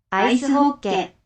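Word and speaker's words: アイスホッケー: 아이스 호케. 네. 아이스 호케. 네, 아이스 하키가 아이스 호케 이렇게 일본식으로 약간 발음을 거의 그대로 받아들여서 요 문자로 지금 기록을 하고 있죠.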